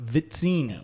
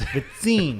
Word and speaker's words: Vizzini: It's actually pronounced Vizzini. Oh, that's... Vizzini.